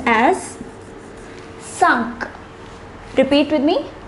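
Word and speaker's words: cinq: next set of numbers the number five is pronounced as sunk repeat with me sunk the number six though spelt the same as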